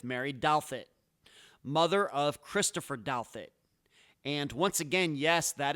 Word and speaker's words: Douthat: And that was my September 10th, 2023 interview with Mary Douthat, mother of Christopher Douthat. And once again, yes, that is how you pronounce that last name.